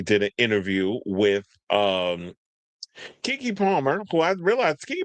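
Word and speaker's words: Keke: This is Kiki. Baby, this is K. You guys say it like a old black woman. Baby, this is Kiki Palmer.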